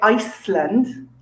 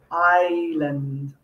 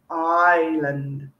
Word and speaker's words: island: warm peaceful relaxing but we do not say iceland even though there's an s written in it we say island island the s is silent